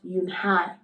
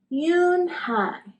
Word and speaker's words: Unhei: then turned Joey she nodded slowly yes it's pronounced yunai and it means Grace Mr Kim added Yun High Joey said slowly and this time perfectly it